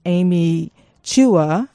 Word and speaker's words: Amy Chua: we're going to pick up the conversation from Amy Chua is the correct pronunciation of her name just listening to the